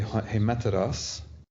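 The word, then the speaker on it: ἡμέτερος: So you want to say hemeteros, and then you've made the you put the accent on hosta on the ultima. So you want to have the accent on the penult.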